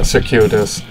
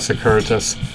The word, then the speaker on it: circuitous: Oh, circuitous. Yeah, circuitous, not circuitous.